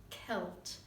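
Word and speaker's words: Qelt: First is on the walk between Jericho and Jerusalem in a deep ravine called the Wadi Kelt. That's spelled Q-E-L-T.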